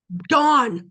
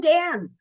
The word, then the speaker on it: Dan: Dawn. See, I keep saying Dan. From dawn to Beersheba. From dawn to Beersheba. From dawn to Beersheba. Don't think it's an accident that somehow in our language it got pronounced Dan.